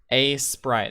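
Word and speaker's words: Aseprite: Craft a sprite. It's like it's spelt A-S-E Prite, right? I mean, I pronounce it A-Sprite, but because it's Ace, yeah.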